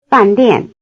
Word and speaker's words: 饭店: Notice that both syllables have the falling tone.